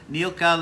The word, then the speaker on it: Nilka: can't do that so Nilka let us know like milk she had to teach me how to say her name Nilka let me know